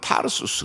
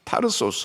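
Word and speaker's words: Tarsus: 길리기아의 다소, 이 다소 영어적인 발음으로는 타르수스 그럽니다. 타르소스 혹은 타르수스 그러는데 우리나라에서는 다소로 번역이 돼서 일반적으로 알려져 있죠.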